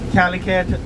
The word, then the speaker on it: Calicut: Calicut, there is no Calcutta. There is no resemblance.